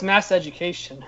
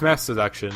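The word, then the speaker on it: Masseduction: It comes out on October 13th, and I thought it was Mass Education. it's Mass Seduction. She said. Okay. That's how you pronounce it.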